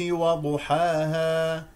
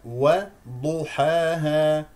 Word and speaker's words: وضحاها: السين جيدا وض حا وضحاها لا تفخم الواو او او الحاء لمجا لمجاورتها الضاد وضحاها وضحا وضحاها واضح وضحاها ولا تستمل الالف وضحاها ها ها هذا